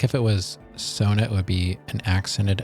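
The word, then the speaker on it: Soona: and trying to measure oh Sona I keep saying sooner and you know I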